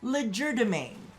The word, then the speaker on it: legerdemain: of the fact that I've been saying it wrong this whole time I've been swapping around the placement of the D but I mean I'm